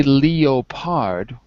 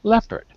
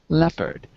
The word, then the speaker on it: leopard: pure short e sound because we don't say Leo part the O is silent so we say leopard leopard okay here's the rule